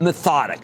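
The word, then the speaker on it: MethodIQ: The company actually announced this on Tuesday, the day before the earnings report and it's called Methodic, but it's spelled uh Method IQ.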